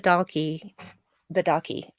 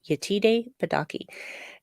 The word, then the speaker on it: Yetide Badaki: her terrific yeah yeah donkey badaki I gotta say her name right yetide badaki uh apparently well not